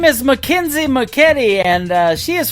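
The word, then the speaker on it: Mackynsie: Her name is spelled M A C K Y N S I E. McKenzie McKetti.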